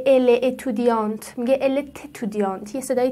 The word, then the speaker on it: étudiant: برای همین است که نمی گوید «elle...étudiante»، می گوید: «Elle est étudiante».